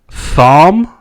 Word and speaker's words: Thom: she was married to thom i guess that's how you pronounce it which is brim t-h-o-m latimer that's bran the h is silent i would assume yeah his name's thomas